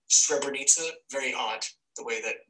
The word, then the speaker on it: Srebrenica: here at the Remembering Srebrenica organization. Did you notice how I switched the accent there? I pronounced Remembering and then Srebrenica.